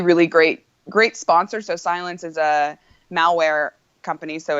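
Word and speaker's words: Cylance: team are you writing on now it's uh pronounce it because it's sort of an interesting spelling yeah it's silence pro cycling okay so i've been on silence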